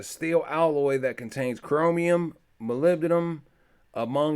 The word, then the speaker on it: molybdenum: moly been Mollet and let's see how to pronounce it molybdenum molybdenum so my lived in them